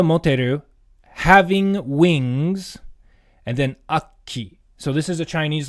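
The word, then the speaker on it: 悪鬼: From the word, this first kanji is aku, means evil, and then ki is the Sino-Japanese pronunciation of the word oni, so a demon. So akki, an evil demon, a monster, that kind of a thing.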